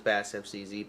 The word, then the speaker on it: BASSFZz: There's a story behind why I chose BASSFZz, but I'm not gonna go into it today.